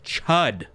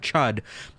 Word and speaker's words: chud: Even though it rhymes with the word stud, which you might think is like, "Yeah, I'm a stud." Somebody calls you a chud, even if it's your